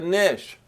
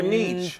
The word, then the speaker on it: niche: Or niche? To begin, Who? maybe to begin. You want him to have a niche or a niche? I want to know, well, some people pronounce it niche, some say niche.